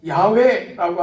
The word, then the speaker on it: 야훼: 자, 여호와라고 하는 이 말은 히브리어로 야훼라고 하는 말입니다. 야훼, 이게 하나님의 이름이에요.